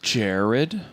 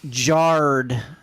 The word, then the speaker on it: Jared: so- It's like jarred. Jared. No, that's Leto. not how English works, Jeremy. That would be with another R. Jarrod.